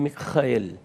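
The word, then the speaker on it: מיכאל: Justamente o nome, na verdade, ele vem do hebraico Michael e tanto no grego quanto no hebraico, a pronúncia é justamente esta: Michael. Mikrael.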